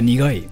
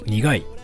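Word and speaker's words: 苦い: Yeah, nigai. We say it like nigai.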